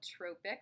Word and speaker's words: trophic: the spelling right there so just like Tropic however we call it trophic that's the pronunciation of the use the